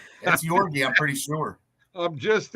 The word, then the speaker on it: Georgiev: Are you sure that you pronounce that Georgiev? Yeah. It is? It's not Georgiev? It's Georgiev? I think, yeah, it's Yorgi. I was calling they're always yelling Yorgi. I'm pretty sure it's Yorgi.